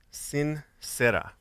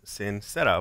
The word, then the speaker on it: sin cera: morning my message is sin sera sorry jerry pronounced it jeremiah pronounced it wrong sincere no this is the spanish word sincere not sincere but the words sincera without wax i have an example